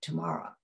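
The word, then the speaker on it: TIMARA: He founded and chaired the Technology and Music and Related Arts Department in the Conservatory of Music at Oberlin College, pronounced Tamara.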